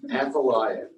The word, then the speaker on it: Athaliah: and her name was, I always say this wrong, Athaliah, right? I had to get out of Google and have him pronounce it for me. So Athaliah.